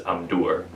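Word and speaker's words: Amdûr: always pronounce it as Amdur. Yeah, so well, the accent is on the U of the name. That sounds like it's right. Amdur.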